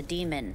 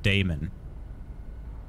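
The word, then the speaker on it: daemon: me right or the demon for you work on any third gen deck they say demon but I've always pronounced that word Damon anyway got a militech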